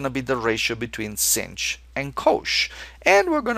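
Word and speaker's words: sinh: So we're going to call it cinch. This one rhymes with finch very nicely.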